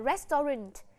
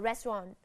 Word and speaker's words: restaurant: Nhiều bạn vẫn hay đọc là restaurant. Thì cái cách đọc đấy là cách đọc chưa chính xác. Chúng ta sẽ đọc là restaurant. Restaurant. Trọng âm nhấn vào âm đầu tiên, restaurant.